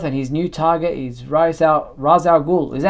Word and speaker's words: Ra's al Ghul: returned to Earth, and his new target is Ra's al Ghul. Is that how you pronounce it, or is it Raish?